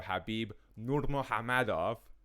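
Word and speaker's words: Khabib Nurmagomedov: he will serve as the official backup for habib nurmagomedov and i swear to you that's how you pronounce the name versus justin gaichi um what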